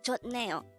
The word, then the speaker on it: 좋네요: hangout word number 258 this is pronounced as a three syllable word the first syllable is